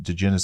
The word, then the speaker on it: Digenis: DeGenis spelled Digenis.